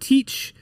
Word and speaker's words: Thatch: It's still pronounced Teach, but it was written T-H-A, whatever, so it's Thatch.